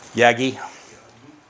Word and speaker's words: Yagi: How do you pronounce it? Yagi.